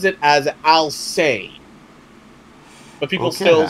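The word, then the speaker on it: Alcest: it's a okay so the band's name is I'll say and it's pronounced a-l-c-e-s-t now according to the vocals of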